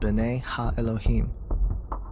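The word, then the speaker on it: בני האלהים: of God mentioned here in the Hebrew is pronounced bene ha Elohim the Septuagint which is the Greek translation of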